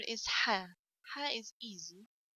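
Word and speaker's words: ح: students to pronounce it ha comes from the source bit sharp little it's not like hair hair you feel it comes like from chest okay different than hair hair comes from throat and hair if you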